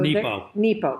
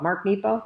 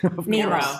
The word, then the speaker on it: Nepo: So Nepo. Mark Nepo. Did I say it wrong? Nemo.